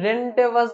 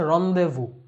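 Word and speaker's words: rendezvous: এই জিনিসটা অনেকে ভুল উচ্চারণ করে, মানে সরাসরি দেখে উচ্চারণ মনে হতে পারে রেন্ডেভাস বা রেন্ডেজভাস টাইপের কিছু একটা, রেন্ডেজাস টাইপের, বাট এইটার অ্যাকচুয়াল উচ্চারণ হচ্ছে রন্দেভু, শব্দটা ফ্রেঞ্চ থেকে আসছে, এবং এটা আসার পরও এটার স্পেলিংটা, এটার উচ্চারণটা ফ্রেঞ্চের মতোই আছে, রন্দেভু বলা হয়, এবং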